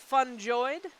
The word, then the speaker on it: fungoid: We got, the biologist says fungoid with a hard G.